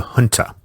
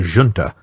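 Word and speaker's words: junta: And in short order, the institution that would define the early leadership of that Spanish resistance began forming, the Huna or the Juna, depending on your preferred pronunciation.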